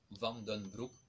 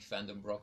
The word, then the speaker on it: Vandenbroeck: say the difficult part my name I can pronounce it in Dutch like we used to do that's vom done group but I know the accent is difficult for english-speaking people so I think fandom rock or something is quite good I